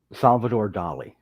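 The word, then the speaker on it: Salvador Dalí: Salvador Dali.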